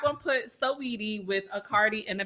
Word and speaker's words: Saweetie: So I'm a little hurt that Sweetie and Quavo broke up. I'm a little hurt by that. Now I'm sure y'all know Sweetie and Saweetie. Let me say it right. Saweetie And Quavo.